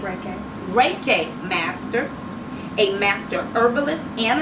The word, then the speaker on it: Reiki: us in a little bit a LMT a Ricky Master did I pronounce it right reckon Reiki master a master herbalist and an author she